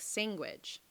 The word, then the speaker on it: sandwich: forced to number 13 i pronounce sandwich like sandwich there's no g in it i became aware